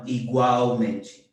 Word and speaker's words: igualmente: And let me remind you that L's at the end of words or at the end of syllables are always pronounced as U. So this word likewise would be igualmente, igualmente. You can tell that TE at the end sounds like chi, no?